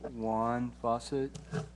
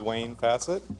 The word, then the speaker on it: Wayne Facet: Uh, I apologize in advance for my pronunciation here. Juan Faucet. Wayne, sorry. It's your handwriting. It's my handwriting. I apologize. No, it's fine. Thank you. Uh, my name is Wayne Facet.